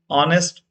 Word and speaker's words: honest: Is honest officer. So H silent is here. We should pronounce honest.